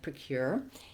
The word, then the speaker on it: procure: first let's begin with procure what we see here is that it has second syllable stress so the stress is on the word or the syllable cure and it's pronounced just